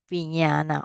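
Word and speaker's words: viññāṇa: The first one is upeka sagata chaku vinyana. All right. So remember this I mentioned to you all when you for those who learn Pali, this is pronounced a nya, right?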